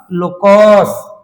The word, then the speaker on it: locus: को इंग्लिश रे कहबा कोन पिले LOCUS कोन लोकस प्रोनाउंस करो बोले कि LOCUS लोकस माने पिले कर्व